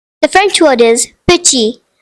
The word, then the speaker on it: petit: The French word is petit, which means small. The silent letter is T.